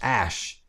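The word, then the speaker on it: Æ: and then the AE is pronounced like is pronounced ash and then A12.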